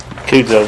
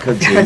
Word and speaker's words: kudzu: Kudzo vine, or whatever it is, don't count, John. Pardon me? Is that how it's said? Like Kudzo or Kudzo vine? Kudzu, no, we're not having No kudzu.